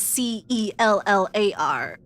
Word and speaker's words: cellar: Why is cello spelled C-E-L-L-O, pronounced as cello, but cellar, written as C-E-L-L-A-R, pronounced cellar?